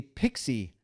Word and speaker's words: PXE: It's kind of a stretch, but you'll often hear this pronounced as a pixie configuration.